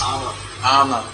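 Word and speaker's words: ஆமா: Ama. Am is Sanskrit. Am is some German, is little. Kavakelu, they don't say am, they say ama.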